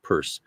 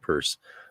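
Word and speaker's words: Peirce: of semiodics with the American philosopher Charles Sanders purse spelled pierce but pronounced purse uh with his approach to semiodics and one called it semiology, one called it semiodics.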